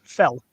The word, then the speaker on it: fel: do it like this up in Hungarian is pronounced fell okay when I say the word met met